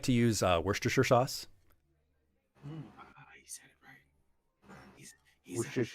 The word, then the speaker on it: Worcestershire: I like to use Worcestershire sauce. He said it right. He Worcestershire said, sauce. Yeah, he said it right. Yes, he said it right. He Chestershire.